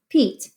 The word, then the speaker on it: Pete: If we add a silent E to the end, this E makes that E say its name. So that becomes Pete.